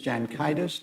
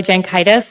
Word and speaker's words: Jankaitis: Jankaitis. Did I pronounce that correct? That was perfect. Thank you, Your Honors. May it please the court. My name is Jankaitis.